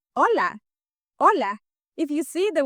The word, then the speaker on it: hola: way, you would say hola. Hola. If you see the word has an H, but you don't say hola, you don't pronounce that, the H is not sounded in Spanish, it is mute, so you say hola.